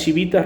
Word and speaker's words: civitas: estado ellos crearon las chivitas romanas dice civitas la pronuncian en latín es chivita romana que es precisamente él